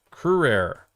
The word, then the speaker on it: Courier: Anglicized, it's pronounced Courier. Perfect. Courier.